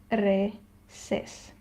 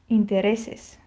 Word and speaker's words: intereses: general rules of accentuation, which says that if a word ends with a vowel, an n or an s, we stress the next to last syllable. And this word obviously ends with an s, so the syllable that we stress is this one. So here the natural accent lies where it's supposed to lie, intereses.